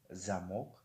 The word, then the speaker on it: замок: ва дар ин ҷо ударение дар ҳарфи о ҳаст. замок оро мо баландтар мехонем. ва дар қаср бошад ударение дар ҳарфи а аст ва инро мо замок намехонем, мо инро замк мехонем.